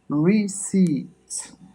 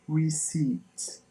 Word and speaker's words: receipt: it so much 30 seconds so I repeat receipt there is one word which is most pronounced there is one letter one letter sort which is not pronounced and give us receipt that's a paper or report that something is